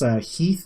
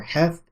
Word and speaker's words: Heth: It's Heath or Heth. I think it's pronounced Heath. It's spelt Heth.